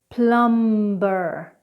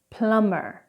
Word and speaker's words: plumber: Now, when we have M and B together in a word, we do not pronounce the B.